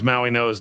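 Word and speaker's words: Mauigoa: Yeah is there Jeremiah Love is also there but somehow Francis Maui Noah's name is pronounced that way in spite of the fact it does not have an N and it's spelled Mauoa has all vowels.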